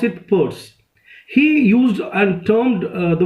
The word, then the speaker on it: Peirce: of this surname is Pei RCE but we pronounce it pours he used and termed the word semiotic and